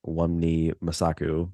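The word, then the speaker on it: Wunmi Mosaku: But Hunter B-15, yes, Wunmi Masaku, that's how you say it.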